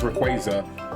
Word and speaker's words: Rayquaza: But I think they just came out and said that it's actually pronounced Rayquaza.